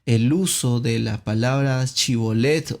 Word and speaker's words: Shibolet: ellos le pedían que pronunciara esta palabra Shibolet. Si era de Efraín, pues iba a tener problemas en el léxico, en cómo pronunciar esta palabra, y la iba a pronunciar Sibolet de una manera diferente y con otro significado.